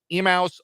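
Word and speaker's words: Emmaus: on emails Bible College I don't know if I'm pronouncing that correctly and I apologize if I am not e-m-m-a-u-s emouse Bible College Grinnell B emails Bible College 124 to 67.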